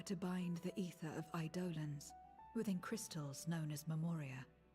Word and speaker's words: Eidolon: So Eidolon is how I've always heard it pronounced. An Eidolon or a primal or a summon. That's what John was asking about earlier in chat. But she pronounced it Eidolons. Hard D-O.